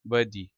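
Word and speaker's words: worthy: अखलाक Stirling वर्दी अच्छा are silent हो जाता है ब्रिटिश एक्स में वर्दी एक्सीलेंट आला शानदार मटेरियल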